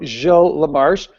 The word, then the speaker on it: Gilles Lamarche: like mine, you know, Gilles Lamarche, that, you know, Dr. Weinstein pronounced Giles because that's what he thought at the beginning.